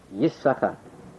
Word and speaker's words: Yisachar: In his famous work, Masoret Siag LaTorah, he writes beferish that the only correct pronunciation of Yisachar is 1, Yisachar, as you have it here.